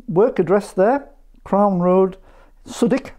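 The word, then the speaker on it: Southwick: This is William's work address there, Crown Road, Suddick, as it's pronounced in Sunderland.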